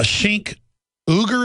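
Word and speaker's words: Cenk Uygur: get him back on uh shink uger is how you pronounce it I don't watch their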